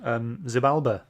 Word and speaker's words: Xibalba: Yeah, if it starts with an X, it's pronounced like a Z, isn't it?